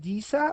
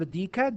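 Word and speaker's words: deca: So for example, 10 to the plus 1 is known as sometimes you call that disa or dika, depending on how you pronounce that, and this is takes the letter D.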